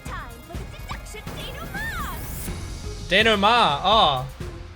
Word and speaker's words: denouement: Denouement. Oh, I've always been calling it started with a request denouncement, from but the she calls it Resistance. denouement, which I guess is probably how you actually pronounce it.